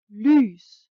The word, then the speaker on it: lys: An example would be lys, light.